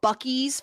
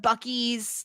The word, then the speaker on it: Buc-ee's: how, so they go to a place called Buc-ee's for chicken. Now, I looked this up. This is not a real place, but there is a thing. Have you ever heard of Buc-ee's, like, in the United States?